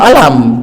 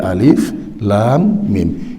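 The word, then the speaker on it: الم: Jangan dibaca alam gitu, jangan, tapi alif, lam, mim.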